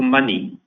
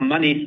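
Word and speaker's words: Monee: On the same day, we rebranded our digital financial services business from Coney to Money, spelled M O N E.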